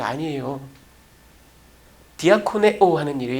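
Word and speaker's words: διακονέω: 이 디아코네오라는 말은 식탁 시중을 들다 해요. 여러분, 이 디아코네오, 이 발음이 디컨하고 닮았죠?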